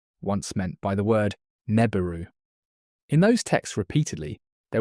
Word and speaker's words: Nibiru: Now, let us begin with the word itself, Nibiru, ne-bi-ru in the carefully syllabic transliteration that Assyriologists use to render the Akkadian. Three syllables. The first carries the long vowel that the cuneiform sign signals with a vertical stroke.